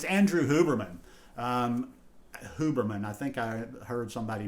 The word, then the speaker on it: Huberman: Huberman, I think I heard somebody mention his name this morning. It is, you do pronounce the H, but he's like this just really fascinating neurobiologist.